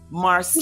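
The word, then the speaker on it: Marsai: Marseille. Who starred in this movie? Her name is Marseille.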